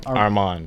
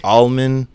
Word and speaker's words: Armond: Armond. Armond. I get Armond. I get Almond.